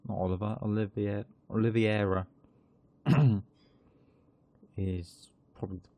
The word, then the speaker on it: Oliveira: Oliveira is probably the correct way to pronounce it.